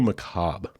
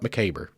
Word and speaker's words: macabre: little Macabre or Macabre I had to look into that sometime back because I wasn't sure how to pronounce it I'd always heard it Macabre apparently both ways are correct just for your information it's not mccaber I can tell you it ain't mccaber Ethel but it is